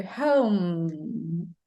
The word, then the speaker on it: home: Is it pronouncing the final E? Not really. You pronounce the consonant sound. So home. And it's different from the M sound in Portuguese. You see, in English, you have to close your lips.